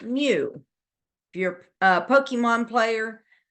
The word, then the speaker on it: mu: this is a Greek letter M it is pronounced new if you're a Pokemon player it's one of